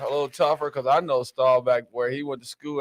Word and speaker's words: Staubach: Staubach. Staubach. Roger Well, he's saying Bach. Boy, it's Staubach. That's how it's spelled Bach, but it's Roger Staubach.